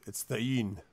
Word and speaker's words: Thegan: And I keep getting told it's not pronounced the way it's spelled, Dran. Thane, Tawnybear. It's Thane, is what it is.